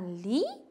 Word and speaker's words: lit: Dans ma chambre, il y a un lit, une armoire, un lit. Un lit, ça signifie machakal. Un lit. Faites attention, T final non prononcé.